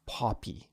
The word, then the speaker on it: Poppy: And so for this word, actually it's pronounced poppy, right? With that aw sound instead of an O sound.